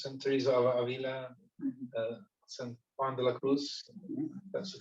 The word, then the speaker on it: Juan de la Cruz: the kind of Saint Teresa of Avila, Saint Juan de la Cruz, that's the correct pronunciation.